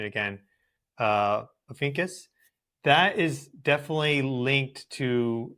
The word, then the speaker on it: Ophiuchus: That part of the sky, that like true sky, Libra, Scorpio area, Officius, I need to look at the pronunciation again. Ophiuchus.